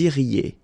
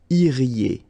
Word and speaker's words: iriez: Vous iriez. Remember, when you get this EZ at the end, you get the sound E. Okay? Iriez, iriez, and then vous iriez.